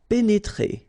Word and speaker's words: pénétrer: pénétrer. Okay, remember here, accent aigu and then accent aigu. So you pronounce it E. Pénétrer. Okay, so pénétrer.